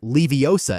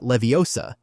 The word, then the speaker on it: Leviosa: The gar is long and pronounced, not like the movie shows, which is Leviosa and not Leviosa, even though that's how it stuck, right?